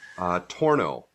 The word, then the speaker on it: Tornow: Tornow is the way of saying it.